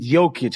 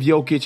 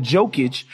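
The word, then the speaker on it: Jokić: my own suspicions of jokic i used to call him jokage because i just refused to say his name right i was like first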